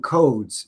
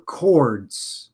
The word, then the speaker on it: chords: They pronounced them codes, C-O-D-E-S, but really what they were saying were chords, C-H-O-R-D-S, right?